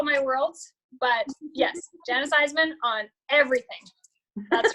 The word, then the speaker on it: Isaman: And then under my personal name, which is spelled Janis like Joplin, Janis, my last name is Isaman, which is spelled is a man, Isaman.